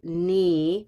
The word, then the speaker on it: knee: Green tea, knee. And what's the silent letter? Yeah, the K.